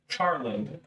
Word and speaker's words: Charland: The first one to keep in mind is the Charland dialect, spelled like char and then land.